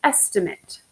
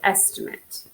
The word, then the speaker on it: estimate: And we pronounce it two different ways based on which way we're using it, which part of speech we're using with it.